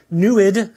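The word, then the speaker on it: NEID: spectroscopy is our little backronym and it explores the NASA NSF program to explore exoplanets newid has the the funny pronounciation rhymes is like fluid easy to remember and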